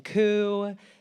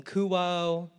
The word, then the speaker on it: Kuo: inevitable is it coup kuo it's pronounced like status quo I'd reply so they